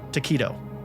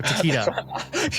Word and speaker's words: Takeda: The director of the cult classic PlayStation classic Parasite Eve was Chrono Trigger and Final Fantasy V legend Takeshi Takedo. Or Takeda.